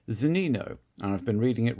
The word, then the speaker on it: Zunino: He's not Zunino, he's Zunino.